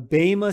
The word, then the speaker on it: bema: of christ in the in the greek is the bhima seat okay the bama seed of judgment that's how it's pronounced and it's a seed